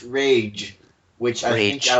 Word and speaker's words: Reg: Today, I was reminded that it is actually pronounced Rage, which I think Rage.